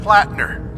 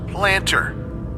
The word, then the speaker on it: Platner: It's a little buggy, like this one glitch where Sergeant Platner keeps getting pronounced Planter.